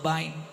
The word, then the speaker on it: বাইন: হ্যাঁ, আমরা বলি বাইম মাছ, গুতুম মাছ, আপনারা কি বলেন? বাইন। হ্যাঁ, শুদ্ধটা বাইন।